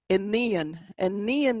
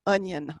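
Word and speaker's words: iníon: Enian is the word that means daughter. It is not onion.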